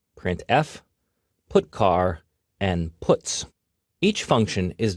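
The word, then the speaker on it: putchar: these three are the most popular they are pronounced printf put car and puts each function is designed to send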